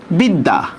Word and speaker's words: বিদ্যা: যেমন দেখেন বিদ্যা, বিদ্যা, দেখেন তো জফলার উচ্চারণটা 2 বার হবে কিনা? মানে জফলা যে বর্ণের সাথে সেটা 2 বার উচ্চারণ হবে। বরস্কায় বি, দ হসন্ত, দয় আকার, বিদ্যা, নাকি?